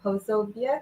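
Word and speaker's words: Posobiec: I always mispronounce his name. Pozobiec.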